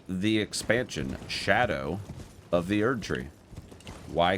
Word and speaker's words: Scadu: of Shadow Jesus Christ I think this sco pronunciation will stick forever oh yeah I'm sure there will always be people that refer to them as sco skibidi and scadu but yes it is it is Shadow which is it's it